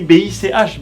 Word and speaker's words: Bich: Sauf que tu le sais pas forcément parce que ça s'écrit B-I-C-H, Bic, le vrai nom de Monsieur Bic.